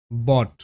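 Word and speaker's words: bought: কিন্তু পাঁচটা লেটার রয়েছে ও ইউজি এইচটি পাঁচটা লেটার কিন্তু সাউন্ড জাস্ট অড ব্যাপারটা টা বুঝতে হবে তো ব অট বট বট আবার ফট এফতে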